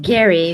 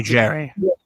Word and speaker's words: Gary: Uh by the way, my name is pronounced Gary because a lot of people totally mistaken. Okay, Jerry. But it's Gary.